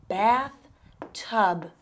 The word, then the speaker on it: bathtub: This is one bathtub. Las terminaciones de las palabras en inglés son muy importantes. Asegúrese de pronunciar esa última B al final de bathtub.